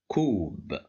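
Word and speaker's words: كوب: Well, here we have the letter Kaf controlled by Dhamma, and it's followed by Waw, so we have Mad bil Waw, so we will pronounce it as Koob.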